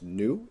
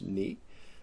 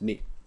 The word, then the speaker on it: nu: It is not pronounced new. It is pronounced ni.